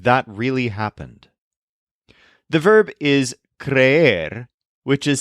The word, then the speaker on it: creer: I don't believe that really happened the verb iser which is spelled c r e e r so for